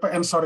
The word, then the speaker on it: Edensor: Jadi Ensor itu desa sebenarnya Edensor tulisannya, tapi dibacanya Ensor. Saya juga nggak tahu itu kenapa seperti itu dibacanya.